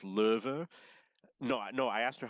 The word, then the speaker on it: Löwe: I met a Bavarian woman, and I asked her how to pronounce low, L-O-W-E. I kind of knew it was Löwe.